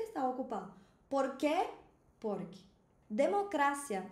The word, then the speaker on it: democracia: Isso aqui é um exemplo de heterotônico. É uma palavra que tem uma sílaba tônica diferente no espanhol e no português. E no espanhol a gente pronuncia democrácia. Fala depois de mim.